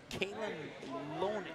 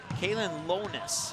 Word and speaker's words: Kalen Lonis: The shot is swatted away out of bounds by Kaylin Lone. I need to pull up the email once again that I got from Rick. Kalen Lonis is how you say that.